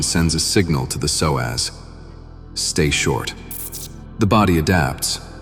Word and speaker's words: psoas: Its name is the psoas, pronounced Psoas.